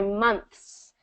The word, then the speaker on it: months: So do this for months. Months. Yeah, there you go. So that Months. continuous airflow between the TH and S.